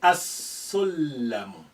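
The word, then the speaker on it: السلم: Sin is a sun letter. You will say as-sullamu. As-sullamu.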